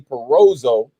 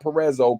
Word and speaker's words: Perozzo: It's Johnny Perozzo. Perozzo, not Perezzo. Perozzo. Rhymes with Bozo.